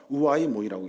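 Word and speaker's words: οὐαί μοι: 헬라어 원어를 찾아보니까 우아이 모이라고 읽어요.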